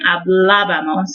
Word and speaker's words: hablábamos: And you do need to put a little emphasis over that first A in the ending, hablábamos, instead of hablábamos.